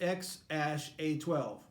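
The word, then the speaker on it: X Æ A-Xii: It's pronounced X-A12.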